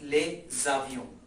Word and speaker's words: les avions: it with comfort, and when we make link between these two, the consonant and vowel, it becomes a pronunciation or a sound as les avions, which means aeroplanes.